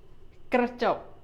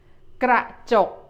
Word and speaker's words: กระจก: In Thai, it is กระจก You make a short vowel for the first syllable. กระจก Both are short vowels. Let's try again. กระจก The last time practicing this word.